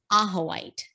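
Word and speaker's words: ajoite: for like 10 years now and it is aha white and that everyone always asks me to spell it it's a-j-o-i-t-e do you have one do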